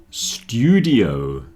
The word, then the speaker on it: studio: Student and studio both have a stew, but study has study.